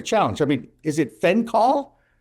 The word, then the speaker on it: fenchol: I mean, is it fenchol? Fenchol, F-E-N-C-H-O-L, benefits, antibacterial, antioxidant, pain relief.